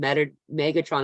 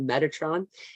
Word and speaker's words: Metatron: to say his name I usually call him Megatron instead of Metatron it's a Transformer that's